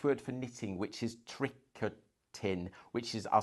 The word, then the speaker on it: tricotin: Um The other one that to use is the French word for knitting, which is tricotin, which is I'll spell it t r i c o t i n.